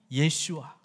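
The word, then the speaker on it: ישוע: 이 히브리 발음은 예슈아, 예수님이 우리를 약속의 땅으로 인도해 주신다.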